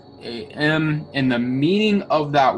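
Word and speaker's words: חָכָם: Okay, so in the original Hebrew translation, it's pronounced shakam. It's Chakam, and the meaning of that word is actually skilled.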